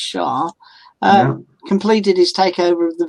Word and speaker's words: Xia: Tony Shah, spelled Xia, but it's pronounced Shah, completed his takeover of the Villa the day before yesterday.